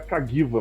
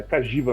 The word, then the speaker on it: Cagiva: eu não sei porque eu achava que era cagiva, mas é cajiva mesmo.